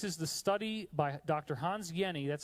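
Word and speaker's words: Hans Jenny: the study by Dr Hans Yenni that's how you pronounce that name even though it looks like Jenny the J is silent it's like a y so Dr Hans Yenni studied a drop of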